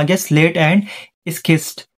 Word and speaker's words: schist: Example में आ गया slate and स्किस्ट। स्किस्ट का आप देख सकते हैं यहाँ पे स्पेलिंग है SCHIST।